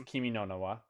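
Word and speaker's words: Kimi no Na wa: And you also mispronounced it. It's Kimi no Nawa. They're different words.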